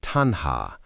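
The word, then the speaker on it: taṇhā: samudayo ariya saccam yayam tanha ponobhavika. This monks is the noble truth of the origin of suffering. It is this craving that leads to renewed existence. Tanha, pronounced tan-ha, is literally translated as thirst.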